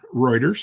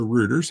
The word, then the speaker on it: Reuters: kind of cool this is from Reuters or Rutters however you want to pronounce it depending on if you're from the East Coast or the West Coast us preer culture diversifies amid